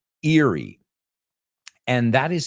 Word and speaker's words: Erie: the fifth one and I guess this one was the toughest one was Eerie Erie Pennsylvania as it's called Erie and that is spelled ER i e yeah see I told